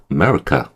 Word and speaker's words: America: 아메리카도 우리 아메리카 이렇게 하는데 그렇게 하는 게 아니라요. 슈하기 때문에 America 거의 안 들릴 정도예요.